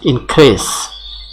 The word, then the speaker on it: increase: Example, realize, rise, but increase. Increase. This se is not pronounced as ja, rather it is pronounced as